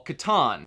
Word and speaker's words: Catan: have been possible without Catan. Or Catan. I'm Australian and pronounce everything backwards, so it probably is Catan, but I would say Catan.